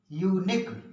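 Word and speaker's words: unique: एक बार फिर से सुन लीजिए, जब किसी शब्द के अंत में क्यू यू ई का प्रयोग हुआ हो या आए तो क्यू का उच्चारण का पढ़ा जाता है। जैसे UN, UNI, QUE, यूनिक।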